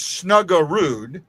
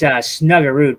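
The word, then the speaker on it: Snuggerud: No, it's you're saying it's it's snugger and I'm saying true guard, so kind of put on the R.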